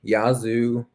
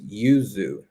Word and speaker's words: yuzu: And that is lemon yazu or I learned the other day. I'm saying it wrong. It's not yazu. It's yuzu. Yuzu.